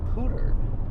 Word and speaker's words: Poudre: And it turns out it's actually pronounced Pooter because of the French history, some European history.